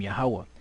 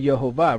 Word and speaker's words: Yahweh: Right, so he said Yehovah, right, which is close, but it's not the Most High's name, right?